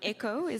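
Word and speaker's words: Èkó: In your book, Eloghosa, the spirit of Lagos, who sometimes I hated and sometimes I loved, Echo, am I pronouncing correctly? Yeah, Echo.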